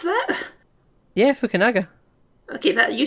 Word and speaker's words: Fukunaga: Yeah, Fukunaga. Okay, that you said Fukunaga, I'm pretty sure, but... Oh, did I put a W in there? You did put a W in there. It's Fukunaga.